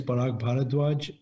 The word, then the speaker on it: Parag Bharadwaj: your background thank you paul my name is barak bharadwaj i am a hospice and dietetic medicine physician